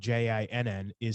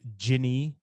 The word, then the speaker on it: jinni: So sometimes jinn, spelled Jinn, is singular, referring to one creature. Sometimes, more correctly, according to the Arabic, it is plural. There's a grammatically correct masculine singular form, which is jinni or jinni, spelled Jinni or Jinnee, and its